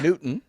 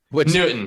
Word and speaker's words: Knudten: remember about dp nettington yeah uh one the pronunciation of my last name newton newton you know it's a hard name so don't